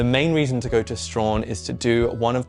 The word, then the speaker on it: Strahan: I was pronouncing it Strahan, but it's actually Strahan. Strahan.